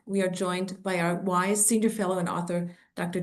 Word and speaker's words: WIIS: Women in International Security, pronounced wise, is a nonprofit, non-governmental